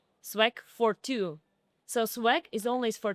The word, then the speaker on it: SWAG42: Sw9 I don't know so actually we pronounce is not Swack 42 Swag for two so swag is always